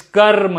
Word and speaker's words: karma: desire so you see even if you casually don't pronounce the r like i've heard many people say kama yoga no it is karma yoga okay and this is where